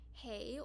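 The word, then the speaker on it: hej: um which in swedish how you say hey or hi in swedish is hey um so swedish how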